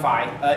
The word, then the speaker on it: Phi: In addition, we're seeing co-processors like Xeon Phi. It's pronounced Phi if you're in a sorority and Phi if you're a mathematician.